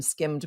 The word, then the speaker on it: skimmed: generation of people to encounter the term skimmed milk only in speech they never hear that D pronounced and it just eventually